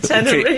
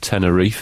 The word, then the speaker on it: Tenerife: I think you'll find it's pronounced Tenerife, isn't it?